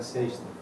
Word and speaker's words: sexta: Sexta. Yes, Friday, yeah. Sorry. S-E-X-T-A. Dash. Yeah, that's okay. How do you pronounce that?